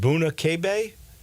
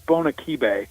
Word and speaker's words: Bona Kibe: I think it's Bona Kibe.